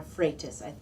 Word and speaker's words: Freitas: And the research now, the person who wrote The End of Sex, Donna Freitas, I think is how you pronounce her last name.